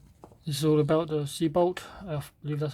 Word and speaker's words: Siebel: it wings inside this is all about the sea bolt that's how you pronounce it English one is at the top